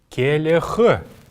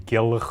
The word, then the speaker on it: келх: Келех. Келех. Келех. Букву «Л» мы здесь произносим очень мягко. Не келх, а келех.